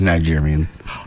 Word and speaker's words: Niger: you miss that a did I say it wrong yeah yeah I looked that up too yeah it's Niger oh yeah not what